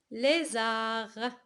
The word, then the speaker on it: lézard: Azur, rose, zou, zèbre, arrosé, poser, réserve, lézard. Il y a un D à la fin, on ne le prononce pas.